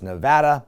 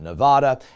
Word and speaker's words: Nevada: a heel he is by mispronouncing the name of the state it's Nevada not Nevada anyway he produces the